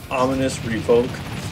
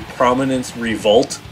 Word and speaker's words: Prominence Revolt: it ominous revoke yeah I called it ominous revoke uh when it's actually prominence revolt uh I did not notice it until I was editing the video that I was saying it wrong so uh I do